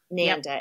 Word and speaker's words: Nanda: does so n l Nanda n n da rhymes with panda spelled like Panda but